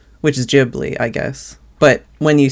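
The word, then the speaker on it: Ghibli: know but the the the word is spelled out in the way they pronounce it in Japanese which is jibli I guess but when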